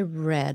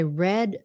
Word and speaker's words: read: that whole book I read it so it's spelled the same but it's pronounced red I read the book from cover